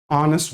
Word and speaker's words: honest: She is a honest girl. So here h is basically silent in hest word. Okay. So since H is silent.